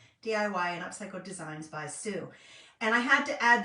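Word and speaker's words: Sew: This is Revive DIY and Upcycled Designs by Sue. I am so glad you're here. In case you're wondering, I say Sue, even though it's spelled S-E-W. So you could pronounce that either so or Sue.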